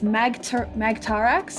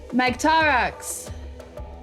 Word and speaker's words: Magtarax: It's Magtarax is how it's pronounced. Yes. Magtarax.